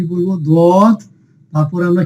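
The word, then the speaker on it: ض: তো প্রিয় শিক্ষার্থীগণ, দেখুন, জিহ্বার কিনারা, জিহ্বার কি কিনারা মাড়ির দাঁতের গোড়ায় স্পর্শ করুন, ডান দিকে অথবা বাম দিকে। অর্থাৎ আমাদের যে জিহ্বা আছে এই জিহ্বার যে কোনো এক পাশ কি করবো আমরা, যে কোনো ডান পাশ অথবা বাম পাশের সাথে লাগিয়ে আমরা বলবো দত।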